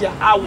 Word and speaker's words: Yahweh: In the Hebrew exactly tongue, how you say his name is Yahweh.